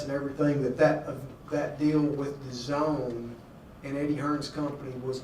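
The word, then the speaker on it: DAZN: This company called The Zone is how they say it, but Matchroom Entertainment, Matchroom Eddie Hearn, he just got a license with us here in California.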